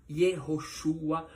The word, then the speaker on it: Yehoshua: Esse é o significado original e essa é a pronúncia do nome Yoshua que foi traduzido e transliterado de forma errada, assim como Jerusalém e assim como judeus.